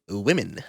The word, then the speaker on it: women: imagine it's spelled WIMMEN. Say it like that. Women.